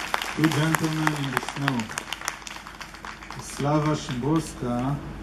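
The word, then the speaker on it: Wisława Szymborska: Slava Szymborska, I hope I said it correctly, because in Israel we said Slava Szymborska. I know it's not her name, but it's pronounced differently in Hebrew.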